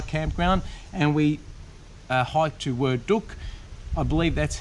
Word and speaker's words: Werdug: and we hiked to word Duke I believe that's how you pronounce it it's actually spelled w-e-r-d-u-g but in the guide it says pronounced as word duck if I'm getting that